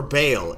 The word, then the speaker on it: Baal: what's the first uh ball yes perfect ball that's it or baale if you want to say it like that yeah I guess you could um every pronunciation I've heard was just Ball but like it's words